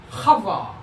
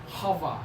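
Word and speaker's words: חַוָּה: 이게 하트니까 하바, 하바 이렇게 발음됩니다.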